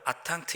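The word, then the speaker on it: attente: 프랑스어로 기다림이라고 하는 단어를 아탕트, 이렇게 발음을 합니다.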